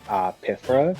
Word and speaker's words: Pythra: Also, I feel like people were assuming that it's pronounced Pythra, because like Mythra. But I'm like, Pythra makes a lot of sense.